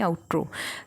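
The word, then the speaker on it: outro: आउटड्रो नहीं आउट्रो मेरा उच्चारण काफी बुरा है।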